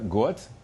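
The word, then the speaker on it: год: The D in god sounds like T, got.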